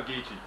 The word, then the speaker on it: Geechee: How do you spell Geechee? G-E-E-C-H-E-E. Yeah, okay. It's spelled just like it sounds.